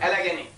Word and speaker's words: Allegheny: Among them there is one airways called Allegheny. Yes. Allegheny. Exactly. Right. It's spelled like Allegany. Allegheny. I know this airline.